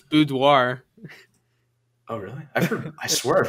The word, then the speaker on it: boudoir: it i think it's boudoir oh really i swear i've heard both that sounds like that's like the french way of saying it anyways um well whatever